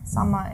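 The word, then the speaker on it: Sommer: z z z yeah Zama is z so you see sometimes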